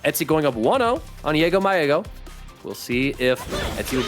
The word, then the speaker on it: JaggoMyEggo: It's pronounced JaggoMyEggo. JaggoMyEggo, like the German pronunciation.